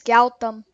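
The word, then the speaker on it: Gautham: name are you gonna unmute my name is gautam g-a-u-t-h-a-m g-a wait u t-h-m t-h-galtom sorry if i'm not pronouncing it as best i can but i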